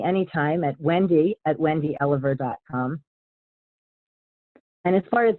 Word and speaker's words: Elover: easy to find online my last name is pronounced Oliver but it's actually spelled E so I'm pretty easy